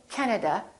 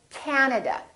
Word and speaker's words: Canada: three a's this time the first syllable is stressed this time this act is really long so don't say canada say canada canada so you need to